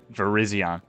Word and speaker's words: Virizion: Yep, Virizion. It's spelled very similar to Verizon, as you can see in the title of the stream.